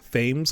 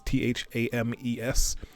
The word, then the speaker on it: Thames: thames is when you're if you're from america you're gonna probably pronounce it thames because t-h-a-m-e-s but they pronounce it